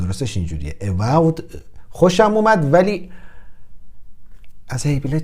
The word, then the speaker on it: Evolve: من استراتژی خیلی دوست دارم و از این بازی و Evolved ببخشید تلفظ درستش اینجوریه، Evolved خوشم اومد، ولی از هیبلید چیزی ندیدم.